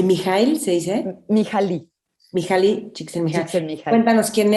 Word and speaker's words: Mihaly: Mihaly.